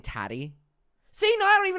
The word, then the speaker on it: Tati: killed my vibe Adam it rhymes with fatty okay you're just all